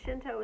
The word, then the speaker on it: Shinto: And Shinto is spelled S-H-I-N as in Nancy, T-O.